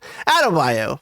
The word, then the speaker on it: Adebayo: Amanda Waller her mother, fucking forgetting how to pronounce it. Adebayo. There we go. Attaboy. Adebayo calls Amanda Waller and says, I need backup.